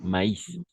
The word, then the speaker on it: maïs: va prononcer Anaïs d'accord maïs dans ces cas là on va prononcer le i d'accord c'est le tréma